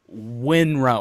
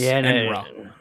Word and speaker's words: Enra: have to type WYE, which is why on Twitter and their website it is Wyenra or Wyenra, but that's not how you pronounce it. It's Enra.